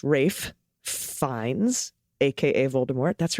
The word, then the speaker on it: Ralph: bruges with colin farrell brandon gleason and ralph pronounced rafe fines aka voldemort that's right rafe does play